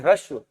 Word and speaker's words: ह्रस्व: ये देखो ह्रस्व लिखा है ना, ये हा आधा है, रा पूरा है, फिर आधा सा है, फिर वाह है, इसे कहते हैं ह्रस्व।